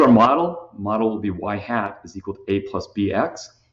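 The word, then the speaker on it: ŷ: variable also called the explanatory variable that's X Y hat and that's how you pronounce it y hat with a little hat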